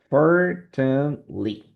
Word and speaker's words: fortunately: En estos últimos dos hay una sílaba que se va a eliminar. So in that case is fortunately. We're going to eliminate this TE.